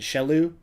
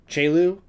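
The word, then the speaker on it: Chelou: go check out jaelu i don't want to pronounce it shellu chelu c-h-e-l-o-u he is amazing amazing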